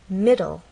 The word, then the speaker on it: middle: look at words like middle middle this word has two syllables middle and the stress is actually on the first part ends in an e